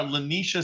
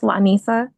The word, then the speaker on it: Lanisha: And ma'am, you are Lanisha, is that correct? It's pronounced Lanisa, but yes.